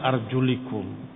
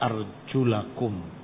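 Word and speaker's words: أرجلَكم: Ya, ini qiraatul jumhur, bantahan jumhur para ulama terhadap orang-orang Rafidah Syiah yang mengusap kakinya karena membacanya arjulikum. Padahal yang benar, yang sahih dibaca arjulakum.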